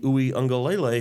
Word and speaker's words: Uiagalelei: And, of course, they've got this quarterback, DJ Uiagalelei, who I'm sure I said his name wrong, but you got it.